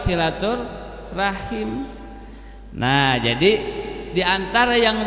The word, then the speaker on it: silaturahim: Dengan demikian kalau kita menggunakan bahasa Arab yang lebih tepat sebetulnya adalah silaturahim. diucapkan dalam lidah bahasa Indonesia sehingga menjadi silaturahmi. Yang lebih tepat silatur rahim.